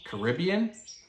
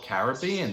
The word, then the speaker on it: Caribbean: their words for example the word Caribbean can be pronounced two different ways Caribbean or Caribbean they're both correct same way for the